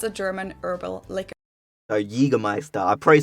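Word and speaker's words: Jägermeister: From shoes to alcohol, this is pronounced Jaegermeister. Jaegermeister. English speakers usually say Jaegermeister, which is pretty much the same, just with a pretty thick accent.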